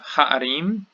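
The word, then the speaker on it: הֶעָרִים: Here we have ha'arim, ha'arim. This shows us what happens because gutturals do not take dagesh.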